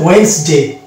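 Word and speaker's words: Wednesday: কিন্তু আমরা জানি এটা এই শব্দটার হচ্ছে টোটাল প্রোনাউন্সিয়েশন হবে ওয়েডনেসডে, ওয়েডনেসডে। এই যে ওয়েডনেসডে, এখানে এই ডি সাইলেন্ট হয়ে গেল, অর্থাৎ এখানে ডি থাকা সত্ত্বেও আমরা ডি কে উচ্চারণ করি না।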